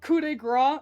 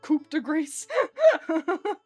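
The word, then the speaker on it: coup de grâce: like coupe grow is not not pronounced coupe degrees.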